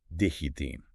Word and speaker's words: destino: They aspirate it within a word or just drop it at the end. So destino becomes digitin. Yep, and menos turns into meno.